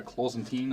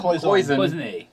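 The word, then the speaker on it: cloisonné: I also have a Cloisantine, is that how you say it? The Cloison. Cloisonne. Cloisonne. Pin, I'm sorry, I'm not French.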